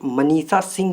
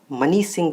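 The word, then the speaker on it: Manisha Singh: मैंने लेक्चर में इसका जो नाम था इनका वो गलत प्रोनाउंसिएट कर दिया था, मनीष सिंह बोल दिया था। तो इसका जो करेक्ट आंसर है वो मनीषा सिंह जी है।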